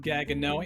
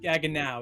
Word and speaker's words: Gaggenau: heard people mispronounce it gago. Anthony, it's a German brand. Gaganow is a German brand, so it's pronounced Gagan now as in how now brown cow. Gaganow. If I hear someone say Gaganau one more time, you're